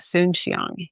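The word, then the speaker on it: Soon-Shiong: So, his last name is spelled Soon dash Shion, Soon Shiong.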